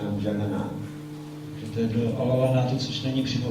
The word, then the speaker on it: Alalnath: Alalnath. Right. You go to Alalnath and taking darshan of Alalnath, which is outside Jagannath Puri, 20 kilometers.